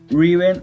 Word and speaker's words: Reaven: And if you mix like the word rêve with heaven and pronounce it with an E, it means Reaven.